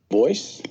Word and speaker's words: Bois: Bois? Yes, he always insisted on that pronunciation. He did not like the Gallic pronunciation, though in his antecedents he was partly French.